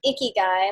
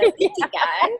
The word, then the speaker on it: Ikigai: I often find it amusing because it's not pronounced Ikigai, like you went on Tinder and you saw an Ikigai, so swipe left. It's not pronounced Ikigai. It's pronounced with a smile, so Ikigai.